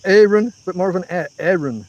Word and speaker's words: Aaron: It's spelled Aaron, A-A-R-O-N, but he pronounces it with more of an E sound. Aaron. Not Aaron, not Aaron, but more of an Aaron, as far as I can hear it.